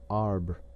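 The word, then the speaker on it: arbre: learned from Darnau that it was pronounced um and in the same way he was taught to pronounce ape son and tree ar.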